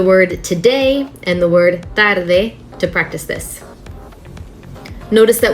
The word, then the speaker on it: tarde: it with tarde tarde see how the tongue comes through the teeth both times if i were to use the english pronunciation of t and d would sound more like tarde tarde tarde now you don't see my tongue at all tarde tarde practice with